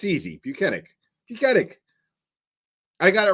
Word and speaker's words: Buchanan: Buchanan. I got it right after a while, you know. I like really looked at it and I was just like, okay, the H throws you off, but it's Buchanan.